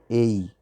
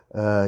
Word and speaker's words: a: ah ok a mas a gente tem duas pronúncias para falar isso a primeira é como a gente está falando aí a mas a gente também poderia pronunciar isso como ei ei então a person e person as pessoas falam ah e ambas as pronúncias estão certas ah então a persa